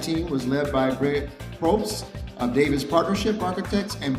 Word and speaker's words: Probst: Brent Probst, I want to say it right, Probst.